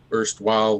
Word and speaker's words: Erstwisle: It's spelled Erstwisle with like a pun with the word isle in it, like an island.